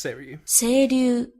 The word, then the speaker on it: Seiryu: Seiryu. Or how was it everyone insisted? Seiryu? It's Seiryu. That's how it's spelled.